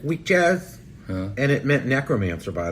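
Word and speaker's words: wikkjaz: there was a word w-i-k-k-j-a-z i believe it's spelled right like weak jazz and it meant necromancer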